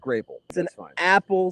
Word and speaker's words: Grapple: a grapple it's a it's pronounced grape apple sized grape what there's